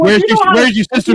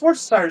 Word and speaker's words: Worcestershire: Hey, but it is entertaining to watch something say like, Oh, "Where's your sister sauce?" And you're like, pronounce it already off the rip. Yeah, okay, it's pronounced Worcestershire sauce.